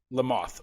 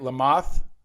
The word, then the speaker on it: Lamothe: episode with lamothe did i say it right lamothe le mans like the bug like the bug there